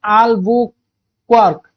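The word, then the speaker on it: Albuquerque: Alfonso de अल्बुकर्क पिले अल्बुकर्क को pronounce करा जाए अल्बुक्वार्क ओके अल्बुक्वार्क ए टाइप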